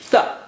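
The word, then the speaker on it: ث: How do you say Tha? Well, as I told you, look at the picture. You put your tongue tip or touch the tip of the tongue to the edge of the upper teeth.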